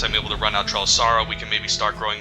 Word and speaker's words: Trelasara: Trelasara, I think that's how you pronounce it, not Trelasara, but Trelasara.